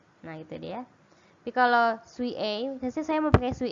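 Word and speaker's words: 水泳: Kemudian lagi mizu, ditambah ini bacanya suie ya.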